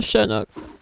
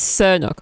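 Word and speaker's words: Sernuk: It's Sirnock, right? I probably irritate people when I say Shernock. That's not how you say it. You're saying it wrong. Yes? Do you hear when I say it? Does it drive you insane? There's no H in it.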